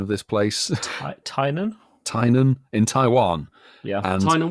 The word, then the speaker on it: Tainan: This will be very, very short because it's just the announcement of another City Safari coming to, what's the pronunciation of this place? Tainan? Tainan in Taiwan.